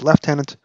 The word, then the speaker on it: lieutenant: fighting for the union who pronounces Lieutenant the way that I've been doing all this podcast even though in proper English it's left tenant hey we New Yorkers